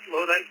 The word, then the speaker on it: Lodi: You got it correct, Lodi, California. Let's see, question tonight. I'm a member of 3 clubs, the Lodi Club right here in town.